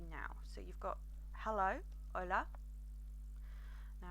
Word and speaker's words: hola: so you've got hello hola now remember with the H you're not pronouncing the sound because it's silent it's more for written purposes so you're saying hola so it's waving to my